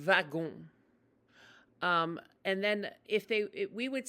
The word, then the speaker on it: wagon: And if you're talking about the car, they call it le wagon, like wagon, but they pronounce it like with a V, le wagon.